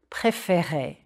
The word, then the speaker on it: préférer: However, as you'll see, the accent changes, and that changes the pronunciation. Prononcez, s'il vous plaît. Préférer. Smile a bit when you say those E accent aigu. Et. Préférer. Je préfère. It's the accent change that opens up the second E.